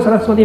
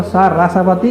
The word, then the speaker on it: सरस्वती: उसका अर्थ नहीं निकलता सरस्वती को सरसवती कहोगे तोता सरस्वती बोलना चाहिए पर अभ्यास हो गया सरस्वती रस का रा इधर बोलते हैं सा उधर बोलते तो फिर अर्थ नहीं